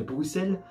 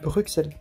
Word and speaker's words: Bruxelles: de la ville de bruxelles alors je viens je viens comprendre qu'il ya x dedans mais ce n'est pas bruxelles c'est bruxelles alors me posais pas pourquoi il ya un hic ce dont bruxelles je ne sais pas